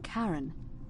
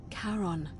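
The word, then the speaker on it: Charon: it's just as you described it only your pronunciation is a little off the name you heard wasn't Karen it was c h a r o n as in karon the Fairman of the Dead karon who in exchange change for the right coin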